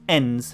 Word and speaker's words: EINS: Hong Kong in the year 2048, in the wake of a degenerative global pandemic, topical, called EINS, environmentally induced neurotides degenerative syndrome, pronounced ENS, theft, murder and terrorism have become big business.